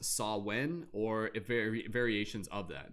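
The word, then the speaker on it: Samhain: is the modern word for what originated as sawwin or samwin it's kind of spelt like s-a-m-w something something something sorry i forget the spelling off name my head but it's pronounced saw when or very variations of that and then this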